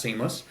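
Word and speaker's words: CEAMLS: artificial intelligence and machine learning systems pronounced seamless um and uh so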